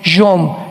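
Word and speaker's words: יום: Postreros es acharit, así como suena con CH, se pronuncia acharit, acharit. Y tiempos o días son yom, Y-O-M de mamá.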